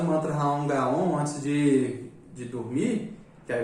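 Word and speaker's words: Raom Gaom: Raon Gaon. Pronuncia assim, ó.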